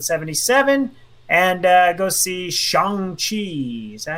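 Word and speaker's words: Shang-Chi: week for episode 77 and uh go see shang chi is that how you say it chongchi that's how you say it all right folks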